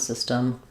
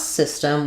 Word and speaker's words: system: about sound system, but to pronounce system, we have first syllable stress. The letter Y says the I sound. Uh, system. We have a very reduced vowel here. So, it'll be shown probably as a schwah in the dictionary, but you can think about it system as almost not being there.